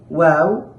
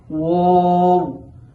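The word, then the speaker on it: واو: করে থাকি, সেটা হলো ওয়াও, ওয়াও এরকম করে থাকি। আসলে ওয়াও হরফটি খুবই পাতলা, এজন্য এই হরফটিকে ওয়াও পড়া যাবে না, এই হরফটিকে পড়তে হবে ওয়াও, ওয়াও।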